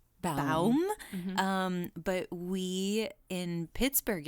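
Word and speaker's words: Baum: We weren't sure if it was bomb or balm. Bum.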